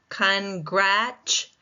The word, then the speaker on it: congratulate: When I say congratulate, the second syllable is primary.